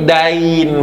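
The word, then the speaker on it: دَين: kan ya Din dinun tapi kalau hutang itu sama Dal ya Nun tapi Dain bacanya bukan Din kalau Din agama Din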